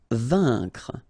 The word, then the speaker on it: vaincre: Vaincre, A-I-N together, here it's un, vaincre.